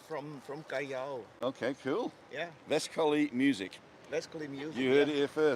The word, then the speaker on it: Vescoli: no, but my friend, it is Vescoli V like Victory, Uh-huh.